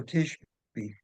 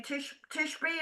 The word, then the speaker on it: Tishby: It's called Israel, Israel, and the author is Noah, Noah Tishby. Is that how that's pronounced? Yeah, Tishby. Tishby.